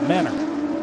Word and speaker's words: Mentor: with us but uh from mentor near Cleveland they pronounce it Menor Menor like lebani battle